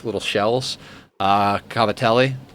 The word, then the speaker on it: cavatelli: uh cavatelli or you you know if you're more Italian about the pronunciation be like gavadil another can be your